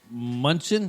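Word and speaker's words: Mnuchin: basically, Steve Munchin, is that how you say his name?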